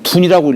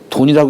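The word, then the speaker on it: 遯: 를에 옥편에 둔이라고 읽어요. 둔 둔이라고 읽는데이 주역에서는 보통요 글자를 읽을 때에 여기가 돼지돈자죠.이 돼지 돈자. 그래서요 돼지라고 하는요음을 취한 거예요. 돼지가 지금 숨어 들어가는 거예요.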